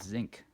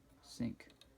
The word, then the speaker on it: zinc: And you know, up until I was nearly 10 or 12 or something, I think, I really thought that's the way you pronounced sink.